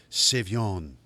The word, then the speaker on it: Savion: Well, I think I said it wrong, but Savion says pronounced Savion.